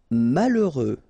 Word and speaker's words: malheureux: Malheureux. H doesn't exist, okay, so you get mal, heureux.